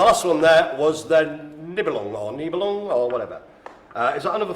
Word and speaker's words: Nebelung: So to pronounce it phonetically or whatever, Nebelung. It's got the word lung at the end.